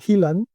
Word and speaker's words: Heelan: que se llama Sean Hillan, Sean, escrito como todos sabemos que se escribe, y Hillan, escrito Heelan, en el que hablaba de lo que él llama la industrialización de la ciberseguridad de ataque.